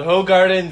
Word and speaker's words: Hoegaarden: g r d e n yes so it's pronounced it's called ho Garden Vida Blanche and it is an original oh